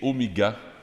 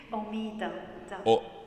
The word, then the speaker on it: Omida: Et c'est Omiga qui va dire, qui va faire les chants. Je le prononce mal, hein, je pense, ton nom? Omida.